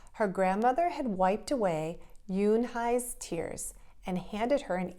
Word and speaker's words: Unhei: kids chanted no no yoon hai corrected it's spelled u-n-h-e-i it's pronounced yoon hai oh it's you hey